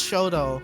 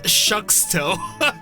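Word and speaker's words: Shxtou: I think it's Shoto. Yeah. I think Sheena did say Shoto. I just got confused by the X. I was like, who's Shucksto? Oh yeah. Oh yeah. Oh yeah, it's spelled with an X. Yeah, that's definitely Shoto.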